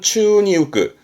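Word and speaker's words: 宙に浮く: 발음은 추니 우끄, 추니 우끄. 우끄라는 건 떴다, 뜰 부자거든요.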